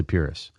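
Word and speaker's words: Pyrrhus: pyus purus pyus purus I'm going to say purus that that's the way I've pronounced it simply because of of the the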